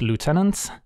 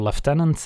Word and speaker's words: lieutenant: we have a Baris lieutenants or left tenants if you want a British pronunciation for mana for a